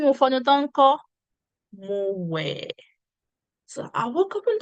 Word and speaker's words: wẹ̀: Okay, so we have to look at the word wẹ̀. How do you spell it? We, ẹ, we, ẹ, wẹ̀. We, ẹ, wẹ̀. And it has the tone mark do. Do.